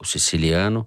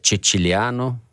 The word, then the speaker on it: Ceciliano: nem entrar nesse mérito, comparar o Siciliano, que, como diz o Toledo, é Ceciliano, né, Toledo? Com o Molon. Não, só estou me referindo à pronúncia italiana.